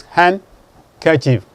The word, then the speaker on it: handkerchief: It is handkerchief. The D is silent.